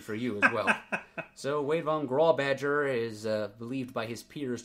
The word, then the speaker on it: Wade von Grawbadger: of the society feel deserves better recognition, was Wade von Grawbadger. Yes. From the Peanut Gallery, I asked him point blank, "How do you say your name, sir?" And, it is indeed Wade von Grawbadger, not Wade von Grawbadger, as I've sometimes guessed